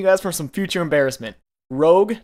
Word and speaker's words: Rogue: means red in French Rogue R OG e is the way to do it I'm just saving you guys from some future embarrassment Rogue not Rouge I said in my